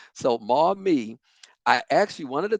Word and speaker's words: Maumee: Maumee County. I had to look at somebody's background just to make sure I said it correctly. So Maumee, I actually, one of the things that I